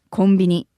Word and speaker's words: コンビニ: コンビニ is actually the abbreviation and Japanese pronunciation of the English word convenience store. Yeah, it sounds really off. But if you pronounce convenience in Japanese, it would be コンビニエンス. Convenience. So they shortened コンビニエンス to simply コンビニ. コンビニ.